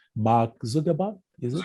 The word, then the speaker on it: Zuckerberg: his surname gives me some trouble sometimes to pronounce. Mark Zuckerberg, is it? Zuckerberg, yeah.